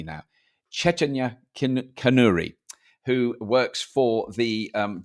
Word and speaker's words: Chaitanya Kanuri: I'm going to say her name correctly now Cheta canri who works for the um wri India which